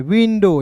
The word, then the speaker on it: window: WI वी, N है बिंदी, D का दोस्तों ड, और OW का उच्चारण ओ के रूप में, विंडो।